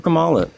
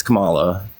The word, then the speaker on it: Kamala: You're not saying it right, by the way. It's Kamala.